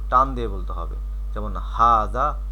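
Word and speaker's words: هذا: নেই এখানে আরবি ভাষার কিছু শব্দ আছে যেমন হাজা আর এটা হচ্ছে হাজিহি এই দুইটার অর্থ হচ্ছে এটি উচ্চারণ পাশে দেওয়া আছে হাজা হাজিহি তো এখানে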